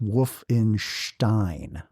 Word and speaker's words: Wolfenstein: Uh, Wolfenstein, spelled E I N, is actually pronounced Wolf in Stein.